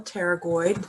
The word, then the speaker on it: pterygoid: you so lp here lateral pterygoid p is silent all right look at